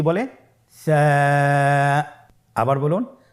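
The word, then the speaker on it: ثاء: ছিল 2টি নোক্তা, আর সারও 3টি নোক্তা রয়েছে, সেটা হলো তার উপরে। তাহলে 3 নোক্তাওয়ালা হরফটিকে কি বলে? সা। আবার বলুন সা। সা হরফটি বারিক মানে পাতলা করে উচ্চারণ করতে হবে।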